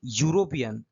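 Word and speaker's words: European: যে এই যে ইউরোপিয়ান, ইউরোপিয়ানের সঠিক উচ্চারণ কিন্তু ইউ, ঠিক আছে, তাহলে ইউ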